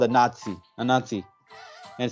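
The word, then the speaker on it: Anansi: going to be tricky to say it's called a Nazi a Nazi it sounds like you know but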